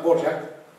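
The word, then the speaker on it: Dvořák: Un compositor que se llama Borjak, predilecto de Brahms, al que Brahms inclusive padrino. Borjak se escribe como suena.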